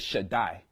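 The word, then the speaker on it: שַׁדַּי: When the Daleth and the Yod get together, it pronounced a long I sound. So you get Shaddai.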